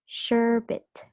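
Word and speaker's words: sherbet: it's pronounced as sherit sherit so the stress is on the first syllable so it is an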